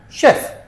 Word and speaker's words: chef: And here are some words that have a ch but shh sound. So they're spelled ch, but we pronounce them shh. Okay. Chef, chalet, machine, brochure, parachute, chaperon, chandelier, crochet, kiche.